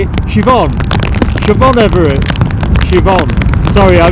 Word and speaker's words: Siobhan: Siobhan Everett. Siobhan. Sorry, I mispronounced your name. I'm notorious for getting name pronunciation wrong. It's never intended to be that way. Siobhan.